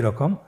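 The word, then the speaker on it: ر: পরবর্তী আরও 2টি হরফ দেখতে একই রকম। 2টি হরফের নাম হলো র এবং জা। র এবং জা। র হরফটি এখানে আমরা পোর করে উচ্চারণ করব, মোটা করে উচ্চারণ করব, এবং র হরফটি এক আলিফ টেনে পড়ব।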